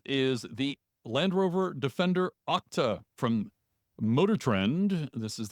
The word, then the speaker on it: OCTA: various parts of this yes it's called OCTA and yes it's an acronym you should pronounce like a word it's short for octahedron